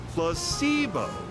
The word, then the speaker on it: placebo: Repeat after me. Placebo. The stress is on the middle syllable.